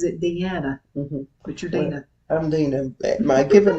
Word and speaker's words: Deana: her name exactly like you do and she pronounces it Dean but you're Dena I'm Dena my given name is actually